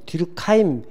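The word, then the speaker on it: 뒤르켐: 뭐 뒤르캠, 뒤르카임, 뭐 뒤르크하임이라고도 하고요. 뭐 뒤르카임, 뒤르깽 다 똑같은 사람입니다. 프랑스 사람이어가지고 프랑스로 읽으면 듀르깽이고 영어식으로 발음하면 듀르켐이고 그렇습니다.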